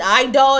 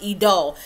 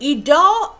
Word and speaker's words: Idole: was constantly pronouncing an eye doll and somebody told me no it's a french word it's actually pronounced pronounced idol so idol believe it or not